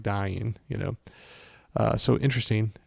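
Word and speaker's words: Dáin: uh I want to say about I just pronounced for the first time dying iron foot correctly so I've always said D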